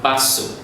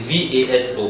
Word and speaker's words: vaso: It's V-A-S-O, but we don't say vaso. At the beginning, someone may be saying vaso, but we still understand when you say it like that. Vaso. Just know it's basso.